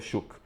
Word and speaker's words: Shough: 2024 e o Tyler Shook e sim a pronúncia é essa, tá gente? Não tô doido não. Escreve-se Shog, mas a pronúncia é Shuk.